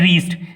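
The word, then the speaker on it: wrist: इसके बाद का जो नेक्स्ट वर्ड है वह है रीस्ट। यहाँ डब्ल्यू को प्रोनाउंस नहीं करना है, इसे हमें रीस्ट पढ़ना है।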